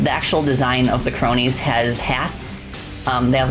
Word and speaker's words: Kronii: basically teddy bear clock they're called cronies like you know like the word cronies you know like you know like like criminals thugs cronies but but it's spelled with a K to master name I